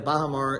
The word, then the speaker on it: Baha Mar: We are here at the Baha Mar, did I pronounce that correctly?